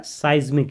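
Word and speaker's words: seismic: और मैंने गलती से आपका जो ये वर्ड है इसको गलत प्रोनाउंस कर दिया था, तो ये साइज्मिक होगा, ये क्या होगा, साइज्मिक, इसको क्या पढ़ेंगे, साइज्मिक पढ़ेंगे, ठीक है।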